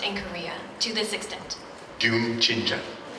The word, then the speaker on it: 듄친자: 듄친자. Say it again. How do you pronounce it?